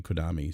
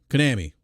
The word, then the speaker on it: Konami: him in in in kodami so or is it konami konami yeah i'm not pronouncing um